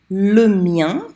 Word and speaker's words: le mien: Le mien rhymes with rien.